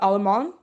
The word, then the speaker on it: Allemand: And then also shout out to their first pick, Julie Allemand. I believe it's like if you don't think you pronounce the last D in her last name.